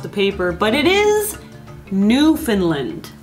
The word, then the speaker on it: Newfoundland: precedes it is newfoundland all right so not newfoundland that's a common mistake common mistake if you're just reading it off the paper but it is new finland right all right there's another city that is